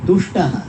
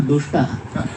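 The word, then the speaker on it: तुष्टः: It should be pronounced properly. Tushtaha, not dushtaha. In Tamil, ta and da are same. Therefore say tushtaha, they will say dushtaha. In Sanskrit, dushtaha means a wicked person.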